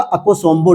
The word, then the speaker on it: Akosombo: इसका प्रोनाउंसिएशन होगा अकोसोम्बो डैम।